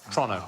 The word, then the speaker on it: Toronto: it should be so it's Toronto not Toronto though is it Toronto Toronto but as quick as you possibly can like it's a crime to say tronic I love Toronto they used to be